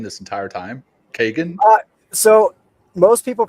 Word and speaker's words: Kegan: name this entire time Kagan uh so most people pronounce the name Keegan but the traditional Irish pronunciation of the name is Kagan so okay no it's